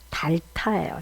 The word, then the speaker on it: 닳다: 지우개 일정 부분이 없어지죠 그게 우리 언어로는 정확하게 뭐냐면 달타요 달타 이단을 외국인이 쓰기 굉장히 어렵습니다